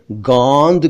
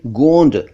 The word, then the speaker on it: गोंद: एक शब्द है गोंद यानी गम, इसको कुछ लोग गोंद कहते हैं जो कि गलत है, कहना चाहिए गोंद।